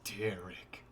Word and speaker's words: Derek: to say it like no it's not derek it's derrick there we go you